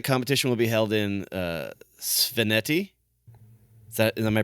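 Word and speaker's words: Svaneti: And the fact that the competition will be held in Sveneti, am I pronouncing that right?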